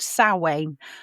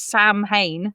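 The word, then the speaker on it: Samhain: And is called sane. Doesn't look like that in the spelling.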